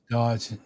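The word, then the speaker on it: DOGE: Dodge.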